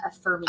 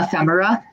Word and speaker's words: ephemera: I wouldn't properly pronounce what I call Ephemia. Ephemera.